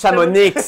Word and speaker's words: Chamonix: Premièrement, ça se prononce Chamonix.